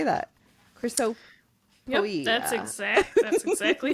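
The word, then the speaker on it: Chrysopoeia: Chrysop.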